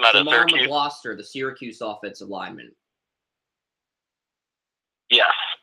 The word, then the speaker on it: McGloster: If he does declare, I'm going to say Jamar McGlader, or how do you say his name out of Syracuse? Jamar McGloster, the Syracuse offensive lineman.